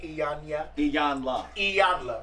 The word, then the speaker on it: Iyanla: Iyanla.